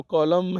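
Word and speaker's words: column: Next जो है word हमारे पास वो कॉलम है, इसको कॉलम बोलते हैं, एन को प्रोनाउंस नहीं किया जाता।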